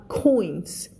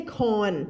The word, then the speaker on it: coins: Okay, so snatched ก็คือการแย่งไปหยิบไปแบบเร็วๆใช่ไหมดึงไปsnatched reached เห็นไหมลงท้ายด้วย ch พอใส่ ed เข้าไปเสียงเป็น t นะคะ reached pocket and handed Paul 10 อันนี้อ่านว่า coins ไม่ใช่ corn ไม่ใช่ corn coins เหรียญนะคะขอบคุณค่ะพี่ทวีพลมาบอกว่า pocket and handed